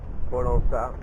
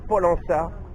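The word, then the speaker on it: Pollença: Polonaça. Polona donc à Maorca. Polana. Ah, elle m'a dit Amel donc me dit Polana. Voilà, il faut le prononcer comme il faut. Donc c'est Polana euh à Maork.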